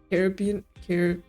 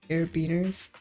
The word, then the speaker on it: carabiner: Car What was my first pronunciation? Caribbean. Carabiners.